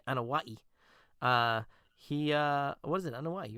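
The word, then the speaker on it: Anoaʻi: And it's funny too the way Dustin brought up the fact that he wasn't that Yokozuna, Rodney Anawai, he what is it, Anawai, right?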